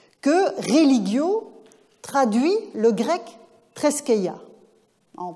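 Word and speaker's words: θρησκεία: il va préciser que religio traduit le grec treskeia, en prononciation érasmienne.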